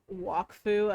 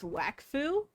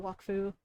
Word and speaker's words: Wakfu: Uh I I did not like that they were pronouncing uh wakfu as wackfu cuz I'm pretty sure the entire like pronunciation is different in French in the French version.